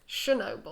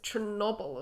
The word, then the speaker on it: Chernobyl: I've always been told it's Chernobyl. Chernobyl. With a soft sh. But he pronounced it with a ch. But I didn't know if it was Chernobyl as well, or Chernobyl.